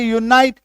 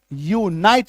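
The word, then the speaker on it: unite: तो ऐसे केस में आप देखिएगा जैसे पी यू पी आई एल प्यू pill you एन आई टी यूनाइट यूनाइट य में बड़ी उकार की मात्रा यू एन आई टी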